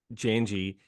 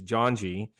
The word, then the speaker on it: Janji: Everybody I have talked to has always called it Janji. You're the first one that's pronounced it properly, which is Janji, which is crazy. I've been around a ton of people, and I've not heard a single person pronounce it like that.